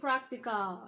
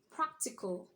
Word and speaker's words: practical: at this period so we shouldn't say practica you should say what's practical we shouldn't say Tata